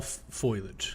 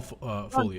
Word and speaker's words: foliage: It's just all foilage. So as you as or foliage foliage I was like foilage it's all foliage.